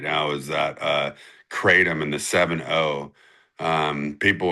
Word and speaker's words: kratom: And is this correct like that kratom am I saying it right?